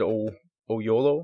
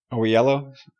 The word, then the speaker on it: Oyelowo: Like, the voice of Fulcrum really did sound like David Oyelowo, I believe is his name. Oyelowo? It's hard to pronounce.